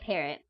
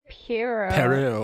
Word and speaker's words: Pierrot: I always want to say it Parrot, but I don't think that's correct. I don't think No, it's I correct think at all. it's Piero.